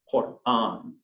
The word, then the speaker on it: Qur'an: So, the correct pronunciation in Arabic would be "Qur'an," so, "Qur'an," so there's a little bit of the stop between the R and the A. That's that word that's called an Arabic hamza.